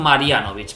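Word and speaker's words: Marjanović: Marianovic que se creo que se pronunciarían Marianovic porque ellos la J la pronuncian como una I un poco rara.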